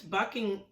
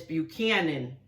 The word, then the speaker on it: Buchanan: James Buckingham, I mispronounced his name. It's not Buckingham. It's Buchanan.